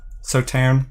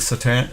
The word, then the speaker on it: Sauternes: You don't pronounce the S at the end of Sauternes. Is it Sauternes?